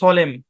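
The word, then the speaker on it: solemn: ও এল এম এন এখানে এন টা সাইলেন্ট এই শব্দের উচ্চারণ সলেম কি উচ্চারণ সলেম হ্যাঁ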